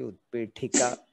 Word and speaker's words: उत्पीठिका: तो ठ जो है वो महाप्राण उच्चारण अच्छे से हाँ करना है। तो उत्पी, थोड़ा हवा बाहर निकलना है जब उच्चारण कर, हाँ, उत्पीठिका। हाँ महाप्राण।